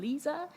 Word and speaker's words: Lise: So PSA, my name is pronounced like a Visa card with an L, so I am Lise, and my pronouns are they, them.